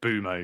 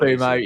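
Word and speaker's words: Mbeumo: I say Boomo because it's like Bumo, yeah. I think I usually say Mburmo, but yeah, it could be Bumo. Anyway, either way.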